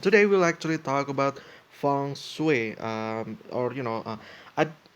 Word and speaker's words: feng shui: uh the you know like a fun and sweep or sway you know it depends on how you pronounce things but I think feng shui is um the you know like the common uh pronunciation but yeah um sometimes